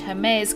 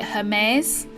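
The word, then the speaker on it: Hermès: Hermes, I think it's spelt the same, but it's got an accent on it. I think you say Hermes, which is a luxury clothing brand which I think they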